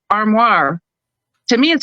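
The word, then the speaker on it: armoire: one of them was because I speak French as well I'm gonna say it in French it's armoir so like a wardrobe armoir to me it sounds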